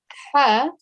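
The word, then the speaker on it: ح: students earlier on that this letter here, ha, comes from the middle of our throat. When we say it, we should use the middle of our throat to pronounce this letter.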